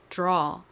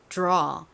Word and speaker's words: draw: 이때 이 D는 디귿 발음보다는 디귿과 지읒의 사이에 발음이 납니다. 그래서 그냥 들어 이렇게 발음이 나지 않고요. 약간 draw, draw 이렇게 살짝 지읒의 느낌이 들어간 발음이 나요. 여러분 한번 다시 해보실까요? 지읒의 느낌을 가미해서 해볼게요. 들어보세요. 먼저 draw 따라해보세요. 한 번 더 draw.